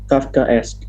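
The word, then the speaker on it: Kafkaesque: with the suffix esque ask or catholic okay kafka s k a f k a e s q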